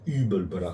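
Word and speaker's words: Übelblatt: Hubelblatt. Non. Je sais pas Sur comment ça se le prononce. U, il y a umlaut, donc c'est Hubelblatt.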